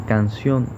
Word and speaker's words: canción: en la sílaba fa, o en canción, donde vemos que recae en la sílaba on, o en café, cuya